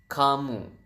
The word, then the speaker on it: kamu: do you say u u is kamu so Ka and mo so you have kamu and then how do